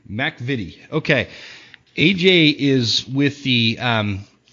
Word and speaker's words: MacVittie: name is that right Mac evade it's actually Scottish so it's Mac Mac vide okay AJ is with